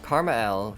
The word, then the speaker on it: KrmaL: Well, I know I have one, and that person is Karma L. Karma L, yes, that's how it's pronounced, is my favorite creator in this entire game.